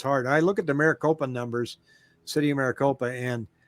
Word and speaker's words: Maricopa: a new build and uh you got to pronounce that city for me maricopa stacey maricopa there's some nice new builds down there i